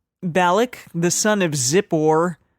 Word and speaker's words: Zippor: balik the son of zippor like zipper but zippor saw all that Israel